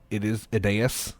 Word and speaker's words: Aeneas: Well, his name's Anus, so. Yeah, I guess it is Aeneas, is how you say it.